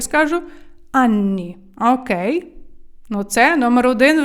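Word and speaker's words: anni: Ані люденьки мої милі коли говорите про вік вимовляйте стапя подвійнен бо воно там подвійне не просто так Анні роки тоді ви скажете отрентанні мені 30 років браві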